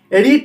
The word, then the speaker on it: read: রিড present ফর্মে থাকলে রিড উচ্চারণ হয়, কিন্তু পাস্ট আর পাস্ট পার্টিসিপেল ফর্মে থাকলে রেড উচ্চারণ হয়, বানানটা একই থাকে।